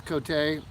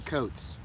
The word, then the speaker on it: Cote: But you could call us, or you could call us Cote, because like we figured out finally that's how it's supposed to be pronounced.